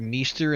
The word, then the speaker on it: Maester: She said Meester and Meester then Maester.